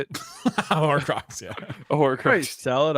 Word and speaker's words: Horcrux: I feel like I'm throwing away a part of me, like it's a Horcrux. How do you say it? Horcrux, yeah.